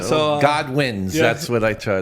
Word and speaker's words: Godwin: the second O is silent. Yeah. All right. So God wins.